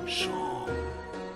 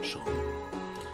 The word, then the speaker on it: Seam: The name's Seam, pronounced Sean. Ah, Sean.